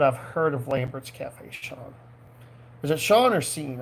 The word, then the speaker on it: Sean: That's how most SEANs are Sean. I always well, that's a name I always found fascinating. The SEAN pronounced Sean.